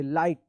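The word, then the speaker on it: light: देखिए आई के बाद जी एच है तो आई का क्या उच्चारण होगा? तो आप जानते होंगे। याद होगा रूल्स। तो क्या इसको पढ़ेंगे? लाइट पढ़ेंगे। लाइट इसमें जी एच जो है ना साइलेंट रहता है।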